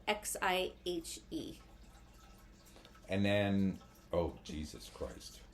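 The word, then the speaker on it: Xihe: look into this one it's spelled x i h e and then oh Jesus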